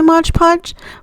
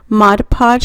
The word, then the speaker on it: Mod Podge: able to actually locate my modge podge Mod Podge because I get corrected every time I say it wrong um I went ahead